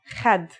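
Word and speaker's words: خد: First, a word which has kha is khad. Khad means cheek in English. And one that has ha is had. Had means limit. Can you hear the difference between khad and had?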